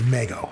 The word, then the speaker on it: Mego: Yes, it was Mego. Yes, congratulations. I've heard it pronounced both ways. Yeah, that's all good. We'll accept it.